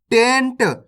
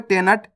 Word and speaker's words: टेंट: है आपको कैसे टेंट आपको नट नहीं पढ़ना अगर इस तरीके से पढ़ोगे टे नट तो ना का पूरा उच्चारण हो जाएगा इसके अंदर ना पूरा लगे हु है तो अपन इसको कैसे पढ़ेंगे नट जबकि य पर आधा ना है तो अपन ना का उच्चारण तेजी के साथ करेंगे टेंट आ रहा है समझ